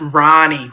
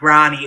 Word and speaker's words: Ronnie: It's pronounced Ronnie, Ronnie.